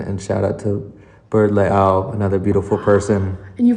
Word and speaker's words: Leao: Yeah, and you are a beautiful person, and shout out to Bird Leao, another beautiful person. And you pronounced the last name right. Yeah, there's the glottal stop. It's like Ka'anapali.